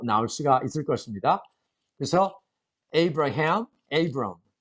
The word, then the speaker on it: Abram: 물론 여기서 Abram 이렇게 해야 되겠죠.